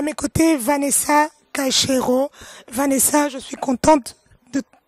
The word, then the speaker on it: Caixeiro: Oui, mon nom c'est en fait Vanessa Caïchero. Voilà, j'ai à mes côtés Vanessa Caïchero.